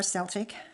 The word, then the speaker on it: Celtic: I know that both pronunciations are correct, but I don't want to make anyone upset that I didn't use their pronunciation. So even within families, it seems to be a bit of a contention about how you pronounce it. So I'll always say Celtic or Celtic, never one or the other.